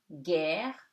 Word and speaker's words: guerre: The letter U is silent before G. So it before EIY. So it gives you guerre, guichet.